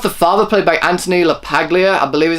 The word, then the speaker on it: LaPaglia: First off, the father, played by Anthony LaPaglia, I believe is how you pronounce his name, he was really good.